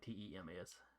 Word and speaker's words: Thames: Yeah, it's pronounced like Tems. So it'd be Teams. Thames is usually how I hear people say it.